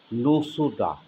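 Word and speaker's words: nosode: Parkinson nodosa 200 বা অনেক সময় উচ্চারণ হয়ে থাকে পার্কিনসন নোসোডা, পার্কিনসন নোসোডা 200।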